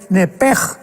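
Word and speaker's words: נפש: porque es la palabra nepesh, con sh al final, nepesh. En el hebreo se pronuncia eh la sh con j, entonces la pronunciación hebrea es nepej.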